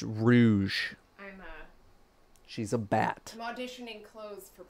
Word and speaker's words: Rouge: like wrinkly yeah on the side no it's pronounced Rouge she's a bat I'm auditioning oh okay so